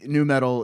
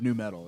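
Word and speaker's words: nü metal: a little, you know, it's new metal, but it's spelled with a U and an umlaut.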